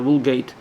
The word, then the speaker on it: Vulgata: Yeah, Vulgata. What does that mean? Well, Vulgata, or if you pronounce it in the British way, the Vulgate, is what the public thinks, because that's what they're told normally, right?